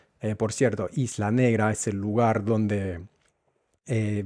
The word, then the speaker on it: Isla Negra: Vuelvo ahí la negra y luego la G de negra también se debilita mucho y es un sonido se convierte en en un sonido casi mudo, casi imperceptible. Eh, por cierto, Isla Negra es el lugar donde